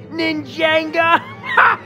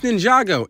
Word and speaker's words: Ninjago: I think it's called ninjanga bye bye you despicable Hedgehog it's pronounced Ninjago it's not that hard more importantly Jay he